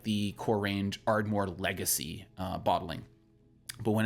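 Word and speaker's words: Ardmhor: ardores under the name ardore but spelled a i r d m h o r it's just a fun way to to to say it without actually saying it cuz phonetically you're going to say that as ardore uh but yeah Ard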